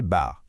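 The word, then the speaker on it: בר: Un autre mot très courant pour dire le fils, c'est bar. Prononcer bar.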